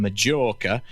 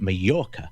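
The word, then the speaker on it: Mallorca: And they go on holiday in Majora and they pronounce it with a J. Actually the locals pronounce it Morca.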